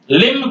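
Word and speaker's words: limb: एल आई एम बी ये लिंब नहीं है लिम पढ़ेंगे तो रंग हो जाएगा य लिम है अब बी का यहां का एक मिट बी यहां हम करेंगे साइलेंट बी साइलेंट है लिम ये कॉम नहीं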